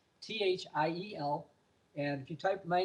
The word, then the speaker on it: Thiel: But again, my last name is spelled Thiel. It's Thiel. It's pronounced differently than it sounds in English, Thiel.